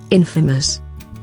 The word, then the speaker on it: infamous: Infamous. Infamous. I think it's not infamous. I think it's infamous.